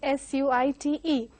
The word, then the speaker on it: suite: Though the spelling is S-U-I-T-E, most of them again, they go by the spelling and pronounce it as suit or something like that, but this has to be pronounced as suite.